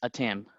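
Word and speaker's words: ATEME: it is pronounced as attempt our first instant our first instinct is to call it like Amy or ATM but it is actually attempt at am was founded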